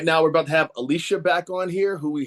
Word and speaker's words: Alicia: It is pronounced Alicia, correct?